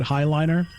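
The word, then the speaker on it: Heighliner: Paul Lapin Malon uh are you sure not you're pronouncing hayliner correctly always heard it highliner you know it's just a thing with you know madeup words from books people are going to pronounce them differently and I don't care what the movie does I'm going to pronounce it the way I pronounced it when I read the book all right so um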